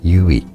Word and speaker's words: Yui: Yui(?) You...Whee? (Offscreen Pronunciation Help): Yui “you-ee” The majesty of Elden